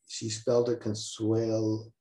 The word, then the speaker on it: Consuelo: And she pronounced it Consuela, even though the correct spelling would be Consuelo.